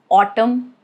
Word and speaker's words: autumn: Rule is it is silent if it comes after M at the end of a word. That is the condition. Like in the word autumn or column or damn. You get it, right? Right after M, but towards the end of the word.